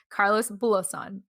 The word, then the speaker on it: Carlos Bulosan: had the story about Carlos, oh my gosh, Carlos Bulosan. Am I pronouncing right? Yeah. Okay, cool. Carlos Bulosan.